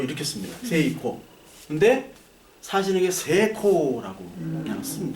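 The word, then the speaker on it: セイコー: 붙고 붙으면 이거를 거의 없애 줍니다 이거를 길게 발음을 하는 스타일이 많아요 그래서 여러분 세이코시계 알죠 세이코 세이코가 성공이란 뜻이에요 성공 세이코 새이 이게 새이 코인데 히라가나로 이렇게 씁니다 세이코 근데 사시는게 세 코라고 그냥 쓰면 돼 세코 세코 경치 치라는 말을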